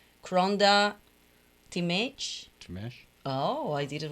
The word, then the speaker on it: Timesch: it is i know cronda timmisch the h is silent my husband's family uh